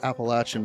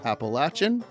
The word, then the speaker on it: Appalachian: section of the larger Appalachian Mountain Range located in the Southeastern part of the state of New York it's pronounced Apple aan because if you say Appalachian they will throw an Apple at you they will these mountains